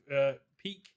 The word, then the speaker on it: Pieck: gave everyone the canonical names and exactly how to pronounce them. So shout out to Response on Play. It's Pieck Finger.